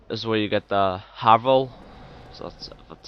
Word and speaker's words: Havel: In this secret wall, anyway, is where you get the Havel. So that's how it's pronounced.